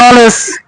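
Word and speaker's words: knowledge: যেমন ধরেন এই যে ন, জিই তে বর্গের জ, নলেজ, কে উচ্চারণ হয়েছে না, নলেজ, LE লে, লেস, ডি উচ্চারণ বাদ হয়েছে, জিই তে বর্গের জ, নলেজ।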